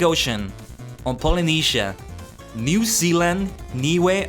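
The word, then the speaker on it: Niue: So, on the Pacific Ocean on Polynia, New Zealand, Niway, I hope I'm saying that correctly. It's spelled N I U.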